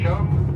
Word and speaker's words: chum: Now the last figure is the chum salmon, because chum rhymes with thumb.